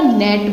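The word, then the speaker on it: gnat: इसमें जी लेटर है, साइलेंट रहता है। जी लेटर जो है ये साइलेंट रहता है, तो इसको हम क्या उच्चारण करेंगे, इसको उच्चारित कैसे करेंगे, नेट, इस तरीके से, ठीक है।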